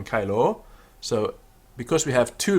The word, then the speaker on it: caelo: Sicut in caelo, sicut in caelo, a long O on caelo.